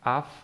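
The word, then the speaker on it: אף: Okay, this would be the f, because there is no dagesh in it. So the sound here would be af. Remember, aleph is a silent letter, and the meaning of af means nose.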